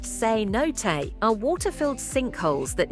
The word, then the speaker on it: cenote: all two cot Mexico a cot pronounced seot are water-filled sink holes